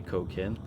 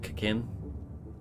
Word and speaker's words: cocaine: Some people say it like the way I just said it and say cocaine, but some people say the first bit so quickly it's like cocaine. It's like there's no O, it's just like an extra, it's like a k sound instead.